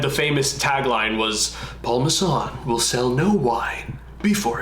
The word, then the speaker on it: Masson: Is it Masson? How do you say it? Well, Paul Masson.